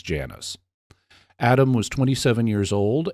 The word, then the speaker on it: Janus: family name is is yanos but the American pronunciation is Janus Adam was 27 years